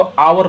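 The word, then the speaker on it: hour: इसी तरह से आवर भी है, घंटा जिसको बोलते हैं, तो एच साइलेंट रहता है, इसको आवर पढ़ते हैं, तो आवर इसीलिए यहाँ पर एन लगता है ऑलवेज।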